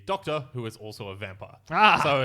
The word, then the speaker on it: Vampyr: VAMPYR. Vampire. Vampire.